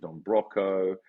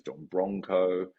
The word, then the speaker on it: Don Broco: to it you know no one knows how to pronounce it it's is it Don broo is it Don broco a lot of people add an n in there so it's Don Bronco I used to be